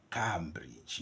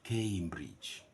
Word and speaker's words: Cambridge: yourselves first of all the pronunciation of this word is not is never never never Cambridge no it's a a Cambridge that's something we should